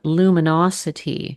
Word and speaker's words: Luminocity: L U M I N A T O and the podcast is called Luminosity, but it's spelled L U M I N O C I T Y to focus on the the city vibe.